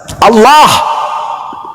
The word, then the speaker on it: Allah: Kalau menggunakan ejaan tajwid, maka bacaannya Allah. Gak ada huruf O di situ. Ini juga kesalahan orang-orang yang membaca huruf Arab menggunakan kata huruf O. Tidak ada huruf O dalam bahasa Arab Allah.